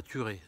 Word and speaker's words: Thurey: ce à quoi donc ça se passe à thuré tuerait c'est une commune de bourgogne et il ya